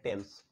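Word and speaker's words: Thames: किनारे बस हुआ है उसको लिखने हैं टी हा ए मिस थीम्स बट पढ़ने हैं टेंस टेंस ब्रांड का नाम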